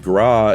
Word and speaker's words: gras: Gras in French is fat, with a silent last letter like foie gras, instead of grasse.